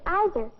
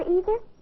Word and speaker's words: either: But some people say either. Can you say either, or either?